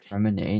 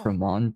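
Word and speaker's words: Freminet: It's Fremine, not Fremont.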